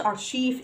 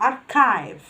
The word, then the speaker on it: archive: برضو عندي CH في بعض الأحيان بتتنطق ك sound. زي كلمة school, school. كلمة archive, archive. أنا بسمع errors كتير في النطق الكلمة دي ما اسمهاش archive اسمها archive, archive.